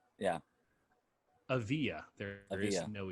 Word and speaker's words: Avdija: 6 a.m published on the mercury news denny avaya uh i'm pronouncing that correct nope okay danny of yeah strong e v yeah avia there is no e in the name um